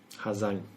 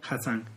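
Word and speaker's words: Hà Giang: Ha Giang. The GI is pronounced as a Z in Vietnamese. Okay. Well, in the north, if you're in Saigon, it will be pronounced. So Ha Giang.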